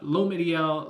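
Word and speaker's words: L'Homme Idéal: Thank you, Poe, for the pronunciation the other day. L'Homme Ideal L'Intense.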